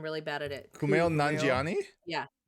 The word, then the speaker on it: Kumail Nanjiani: Kumail Kumail? Nanjiani? Yeah. Kumail Nanjiani. Kumail Nanjiani Steph. butt massage. Steph, say ku Ku. and then male.